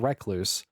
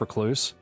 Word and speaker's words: recluse: up the pronunciation because I know it's recluse, but I found out handily that you can actually call it recluse or recluse. People say it both ways.